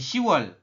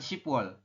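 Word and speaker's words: 시월: lagi adalah 10 teman-teman 10 itu kan si di sini dibacanya hanya si ya jadi She Bukan shipwall tadi juga Sama ya yall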